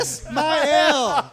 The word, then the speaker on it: Ismail: Ismail. With the elaborate Yeah, you enunciation. said it. There we go. So Kiss my L.